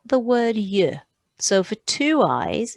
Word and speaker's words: yeux: An That means an I, but if you've got two I's, you say deux yeux.